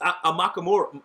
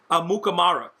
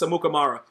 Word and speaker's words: Amukamara: You got bums like Prince Amakamura. What is his name? Amukamara. I always mess up his name. Amukamara? Is that how you say it? Yeah, I think it's Amukamara.